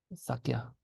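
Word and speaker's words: ས་སྐྱ: Then we pronounce the ka, and then the ya sound goes in between the ka and the a, so it becomes kya, sakya.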